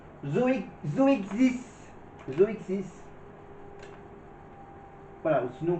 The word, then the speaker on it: Zoexis: Et donc ça se prononce Zo Zoexis.